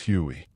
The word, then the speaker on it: Huey: The Huey got its name from its original designation, HU-1, which soldiers pronounced as Huey.